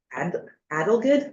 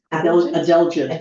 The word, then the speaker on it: adelgid: the town's intentions to develop a hemlock woolly adelgid, how do you say that word? Adelgid.